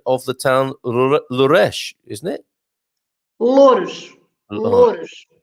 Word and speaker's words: Loures: Bon dia, correct pronunciation of the town Louresh, isn't it?